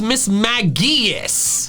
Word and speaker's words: Mismagius: The official pronunciation, which is mismagius. Mismagius. The hard G is ridiculous.